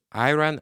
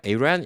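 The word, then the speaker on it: Iran: 아이란이 아니라 이란, 이라크다. 그래갖고 E로 읽어야 된다.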